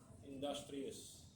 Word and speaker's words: industrious: Industrious. Industrious bacanya. Industrious. Tulisannya industrious, bacanya industrious. Industrious.